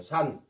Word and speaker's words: 산: 근데 읽을 때는 간이라고 안 읽어요. 산이라고 읽는다 그 말이에요. 산.